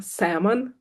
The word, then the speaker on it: salmon: and he's like, no, it's L silent like in salmon.